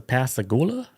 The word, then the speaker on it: Pascagoula: of the night, which is the pass the pasagoula abduction. There you go. That's how you say it. Pasagula.